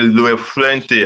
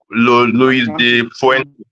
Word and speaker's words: La Fuente: Coach Luis de la Fuente. What's his name? I can't pronounce the name. It's a Spanish name. Luis de Fuente.